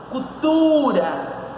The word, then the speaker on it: cultura: Qual é a posição da sílaba tônica? Cultura. Tá na penúltima.